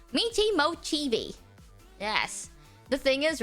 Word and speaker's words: Michi Mochievee: way is just I am wondering how you pronounce how to mochii that's how you say it it's Mii moii yes the thing is Right Fri for she